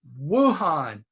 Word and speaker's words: Wuhan: same sound wood now here's the famous city in China Wuhan Wuhan okay Wuhan that's the w/u sound all right we'll stop